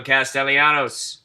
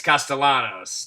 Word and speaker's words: Castellanos: red sox nation in the house with pedro castellianos i might have thrown an eye in there i just realized as i pronounced that name so proudly as a red sox fan it's castellanos there's no ayanos but he's still a good